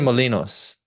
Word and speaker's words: Torremolinos: It is Turamalone, Jesus. Torremolinos, I believe. Torremolinos. There we go.